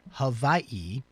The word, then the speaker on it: Hawaii: Sorry, let me pronounce that correctly. Hawaii.